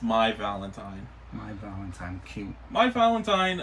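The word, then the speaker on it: Mai Valentine: against each other they're Duelists okay this is my valentine yes it's a play on words oh I think I was I was looking at it it's May it's May Valentin no it's in the show it's pronounced my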